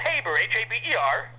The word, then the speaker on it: Haber: I mispronounced your name. It's Haber. No, it's Haber, Haber.